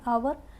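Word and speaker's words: hour: एंड आवर, sound हमारा क्या आया? अ आया। यहाँ की एच हमारे यहाँ पे साइलेंट होता है।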